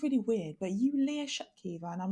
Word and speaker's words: Leah Shutkever: excuse me this sounds really weird but you lear shut kiva and i'm like yes yes i am and